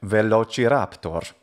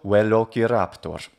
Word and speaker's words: Velociraptor: In English, Velociraptor is a perfectly fine way to say the name. It follows the phonetic rules of English just fine. If we wanted to use an ecclesiastical pronunciation, Velociraptor, and classical, Velociraptor.